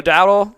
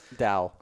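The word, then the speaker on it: Dowdle: Uh, Rico Dael, Daell, Dael, I think it's Dow, right? Dao.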